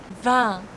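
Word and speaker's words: vingt: 20. This is nasal E sound.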